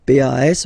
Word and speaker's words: pas: Okay, we write it PAS, okay, but as usual, final S is not pronounced, so it's pas.